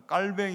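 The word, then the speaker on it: Calvin: 아는 칼빈 목사님이 전에 칼빈 영어란 칼 미인이지만 프랑스 사람이니까 깔 뱅 이에요 깔 밴 이름이 이렇게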